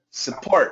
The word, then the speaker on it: support: it's even shorter s support support support very good and make the uh stress on the second syllable support Ah that's support